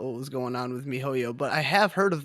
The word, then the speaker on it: miHoYo: So this is a free-to-play action role-playing game made by, how do you pronounce this developer? MiHoYo. MiHoYo.